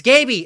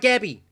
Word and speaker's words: Gaby: Gaby, goddamn, Gaby, it's Gaby, it's not Gabby.